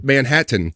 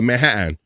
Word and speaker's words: Manhattan: When people say Manhattan, they don't go Manhattan. They go Manhattan. They go Manhattan. Manhattan. It's like there's fucking T's in Manhattan.